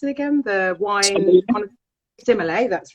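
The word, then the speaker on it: sommelier: And you work very closely with the similar, how do you pronounce it again? The wine, Simile, that's right.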